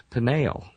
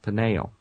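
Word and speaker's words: Peniel: Jacob names that place panel uh p n i e l slightly different spelling panel almost identical pronunciation could be just a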